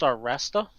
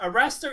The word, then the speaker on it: Arrastra: I believe it's pronounced Arrastra.